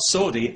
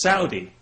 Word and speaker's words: Saudi: People have said to me, you know, you're pronouncing that wrong. It's not Saudi, it's Saudi.